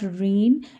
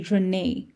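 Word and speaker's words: René: for the information also whenever e has a little thing like this on top it's pronounced in so it's pronounced as a so it's not rain it's actually Rene okay there's an a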